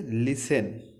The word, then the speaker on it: listen: তারপরে বলছে LISTEN, এটার উচ্চারণ হচ্ছে লিসেন, লিসেন, এটার উচ্চারণ হচ্ছে লিসেন।